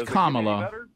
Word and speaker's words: Kamala: Kamala Harris so uh it's Kamala it'll get worse uh I said this to you and I'll say it to our sitting president it's Kamala Kamala Harris uh we say it correctly nobody's going to be